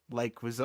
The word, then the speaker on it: Leguizamo: He's actually called John Leguizamo.